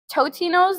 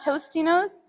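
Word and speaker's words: Totino's: Totinos, not Tostinos.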